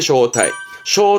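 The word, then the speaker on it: 招待: 불을 초 여러분 다 아시는 이게 초대하는 거지요 발음은 타타게 초대하다 쇼타이 타이저 초대장 타이도 있겠습니다 초청 자죠 청자도 했었습니다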